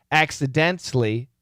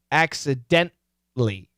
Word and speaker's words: accidentally: i want you to either pronounce the t accidentally accidentally or stop the t accidentally gently okay either of those short oh knocked knocked